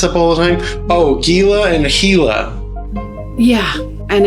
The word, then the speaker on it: Gila: mean I understand the referencing the hila monster I'm a gila person and then when it comes to to the B Cruiser I am definitely a nois you know silent G kind of guy yeah the the whole